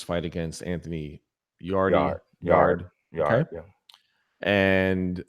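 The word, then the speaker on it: Yarde: And I still don't know the proper pronunciation. It's yard. I've I heard, is actually the messed. Yard? Yeah, it is yard. I thought Okay. I thought it was yard A too. I thought it was yard A. Okay. But it's yard.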